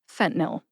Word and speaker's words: fentanyl: Which, as an Ohio pharmacist, for some reason I say fentanyl. I kind of skip that middle syllable.